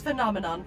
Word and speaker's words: phenomenon: How to pronounce phenomenon. First say fem, but replace the M with an N. Then say non, but replace the last N with an M. Nom, like a nummies.